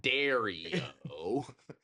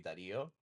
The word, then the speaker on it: Dario: of Dario's name as Dario. And to be fair, I don't introduce myself in Spanish, which I should. So, in Spanish, it will be Dario.